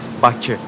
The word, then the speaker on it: Baku: It's actually pronounced Bakü, not Baku.